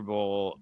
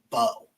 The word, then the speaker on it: Mbow: You look at, and I've been told the Purdue right tackle's name, it's spelled MBOW. I've been told it's just Bo.